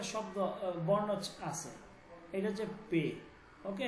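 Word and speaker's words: پ: এই মাঝে একটা শব্দ বর্ণ আছে এটা হচ্ছে পে ওকে পে ঠিক আছে আছে আচ্ছা তো আলিফ আলিফ বে পে ওকে পে এই উচ্চারণটা হচ্ছে পে পে ঠিক আছে উচ্চারণটা কি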